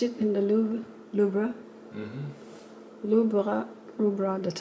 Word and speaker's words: Louvre: Louvre, that's how the French pronounce it.